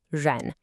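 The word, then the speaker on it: 人: The character is ren, and it's pronounced ren.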